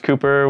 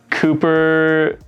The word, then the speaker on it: Cooper: edmonds washington there's cooper the pooper scooper there's duper there's dupe um blooper super duper cooper people catch on pretty fast that my name rhymes with pooper and poop so that was like